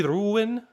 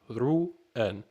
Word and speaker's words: ruhen: This Sie ruhen, and this, so we all know the H is silent. Sie ruhen.